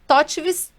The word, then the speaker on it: TOTVS: É Totvis. Como que a gente pronuncia e por todo mundo faz essa pergunta para ele?